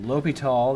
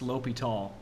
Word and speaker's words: L'Hôpital: So L'Hôpital, that's a French name, and that O has a diacritic over it, a caret, a pointy hat. And that's pronounced L'Hôpital.